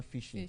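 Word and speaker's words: phishing: N G but it is pronounced as a normal fishing catching fish.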